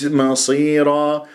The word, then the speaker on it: مصيرا: شوف الميم من كلمة مصيرة، مرققة، الصاد مفخمة، مرتبة أخيرة، خامسة مكسورة. فالبعض يقرأها ما مصيرة خطأ،